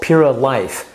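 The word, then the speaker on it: Pura Liyf: Now, the other probiotic that they have, the Paradigm has, is called Pura Life. And the life part is spelled L-I-Y-F, life in your food, once again.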